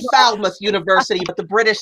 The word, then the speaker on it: Falmouth: I say Falmouth University, but the British say that's not how we say it. It's Falmouth, Jimmy. That's Falmouth.